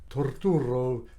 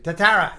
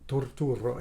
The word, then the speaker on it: Turturro: so if I didn't start he would say tatara he was Irish you know get in there